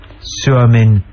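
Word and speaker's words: Suomi: speaking people they say it's Greece Finland is suin talta is nion we used to say nipon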